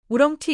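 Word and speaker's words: oolong: 자 이렇게 L이 중간에 모음 사이에 했을 때는 얘가 라이텔 될 수도 있고 이런 느낌이 아니라 약간 이런 느낌이에요. 올라 강세는 앞에 있어요. 혹시 우렁티 있어요.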